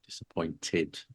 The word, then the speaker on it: disappointed: you need an ID if the verb finishes in a t then the past sense in the adjective would be pronounced disappointed and no one will